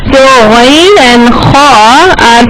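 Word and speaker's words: خ: The first letter is kha. Kha are pronounced from the adnal halaq, the part of the throat.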